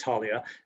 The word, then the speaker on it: Taulia: Certainly, it's pronounced Taulia, so I guess we're even on this.